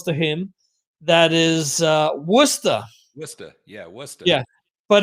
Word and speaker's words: Worcester: massachusetts that's close to him that is uh worcester yeah yeah but it's spelled warchester okay there's a um there's a